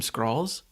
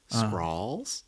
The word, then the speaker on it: Skrull: Kind of like skull, but Yeah, with an R. That's what Yeah. I'm saying. you're saying scrawl like a sprawl. Skrull.